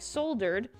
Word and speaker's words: solder: Oh, Americans say solder.